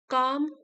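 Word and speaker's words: calm: Surprised bye Aarav's काम response, आश्चर्यचकित होकर आरव के शांत प्रतिक्रिया से। काम मीन्स शांत, यहाँ एल साइलेंट है, काम शांत प्रक्रिया से, प्रतिक्रिया से।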